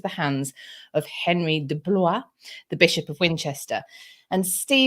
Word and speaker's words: Blois: In 1149, the Abbey, decided to sell the Manor of Southwark to Henry of Blois.